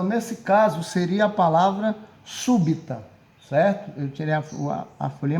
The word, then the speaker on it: súbita: Trissílaba, 3 sílabas e proparoxítono que tenha a sílaba tônica como sendo a antepenúltima. Então, nesse caso, seria a palavra súbita, certo?